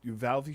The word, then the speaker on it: Uvalde: Did you see the Uvalde shooting? Yeah. How do you pronounce it?